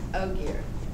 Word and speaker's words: Ogier: One that threw me off was Ogier. Yeah. Because it says O and then it says G-E-A-R.